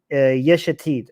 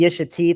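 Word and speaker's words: Yesh Atid: lapid rules over is yeshetid okay this is the one that i have the biggest problem with because his name rhymes with the name of his party and that's why it's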